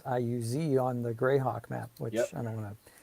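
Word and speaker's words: Iuz: some reason I thought it was like IO U uh Z but apparently it's IU Z on the greyhawk map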